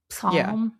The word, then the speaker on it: psalm: Is that how you say it, or is the P silent? Psalm? Psalm. Yeah.